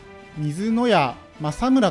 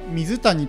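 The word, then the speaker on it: 水谷政村: この人ですねこれを普通に読むと水谷と読んでしまうし私も前回水谷と読みましたただこちら読み方見てもらうと分かる通り水屋政村となってますでこの谷と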